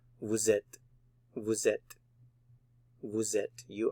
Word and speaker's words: vous êtes: So vous, normally you don't pronounce the S, but with the vowel following, vous êtes, vous êtes, vous êtes.